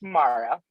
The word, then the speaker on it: Mara: Present, and it's Mara.